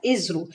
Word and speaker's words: ISRO: that is called as Israel you have to pronounce this as Israel and the full form of ISRO is Indian